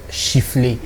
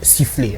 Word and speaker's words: siffler: le mot c'est sifflé en rdc on a l'habitude de dire chifflet un méta chief les torts que ce n'est pas la meilleure prononciation ça se dit sifflé alors sifflé c'est d'abord